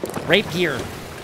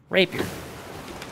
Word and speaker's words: rapier: Rape gear. Whatever, man. Hold on, dude. Let me look at the Google translation here. How do you... Rapier. I'm saying it right, you doofuses. Rapier.